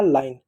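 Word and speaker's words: line: चलो अगला शब्द है एल आई एन ई, तो इसको क्या पढ़ेंगे, एल से बच्चों ल होगा, ल लिख दिए, आई से बच्चों आ की मात्रा और ई हुआ, ई लिख दिए, एन से बच्चों न हुआ, न लिख दिए, ई साइलेंट हो गया आपका लाइन।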